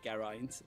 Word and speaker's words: Geraint: Rhymed as in pint. And if you just keep practicing saying egg pint, egg pint, egg pint. Again and again, that sort of gets you in the mindset to say it properly. So thanks for tuning in. If you liked it, leave me a like. What do you say? In egg pint, Ger is in egg.